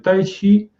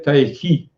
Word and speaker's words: Tai Chi: Chi cette idée que je prononce Chi parce que c'est la prononciation chinoise ancienne. Mais actuellement, on a tendance à prononcer Tai Chi, c'est-à-dire pas Ki avec le K, mais Tai Chi.